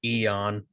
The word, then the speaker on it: Aeon: You just pronounce it Eon.